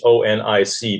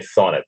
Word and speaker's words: Chthonic: Yeah, it's CHTHONIC, but they pronounce it. Well, I've heard you can pronounce it chthonic, or you can say thonic. And whenever Freddie, the singer, says it, he says thonic.